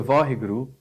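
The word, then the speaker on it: Vaheguru: because it's syllables um when it comes to vahigru punjabi doesn't have w there's no w in punjabi yeah right so it's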